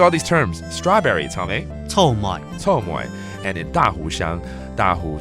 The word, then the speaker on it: 草莓: 臭梅。